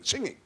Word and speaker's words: singing: go on saying singing oh no no you shouldn't pronounce that middle g singing singing singing but i want